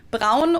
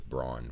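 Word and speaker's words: Braun: pretty sure i would pronounce it brown now but i'm pretty sure before i think i would pronounce this brawn for sure which sounds really weird to my ears fun fact brown was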